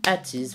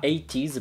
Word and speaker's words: ATEEZ: Aujourd'hui on va parler d'un groupe d'Angers, déjà parlé plein de fois sur la chaîne, c'est ATEEZ, enfin ATEEZ plutôt, si on le prononce bien.